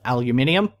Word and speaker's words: aluminium: aluminium no it's aluminum because there's no second I someone pointed that out the other day it's also another thing it all starts to do with the spelling i'm pretty sure in Australia we spell it aluminium we're in other countries a spell at aluminum um before who knows